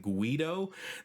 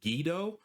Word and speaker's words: Guido: I was I was calling him Guido. That's the only way that I've ever heard it pronounced and someone in the comments mentioned that it's actually pronounced Gido.